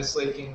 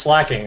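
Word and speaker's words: Slaking: It paralyzed my Slake King, though, so that's not good. What do you got here? Ghostliness. Hammer arm that. It's obviously pronounced slacking.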